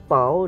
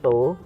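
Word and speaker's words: τ: Kita tuliskan sebagai torsi atau tau dibacanya, atau toe, sama dengan, harusnya ini boleh L boleh R, itu tergantung dari soalnya.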